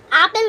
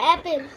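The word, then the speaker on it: apple: আচ্ছা আপেল না অ্যাপেল হ্যাঁ অ্যাপেল বানান করো।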